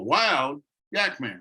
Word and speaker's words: wildyakman: Now it's pronounced Wildyak-man, because I did research on wild yaks. Many people look at that, they go, oh, Wild Yak Man.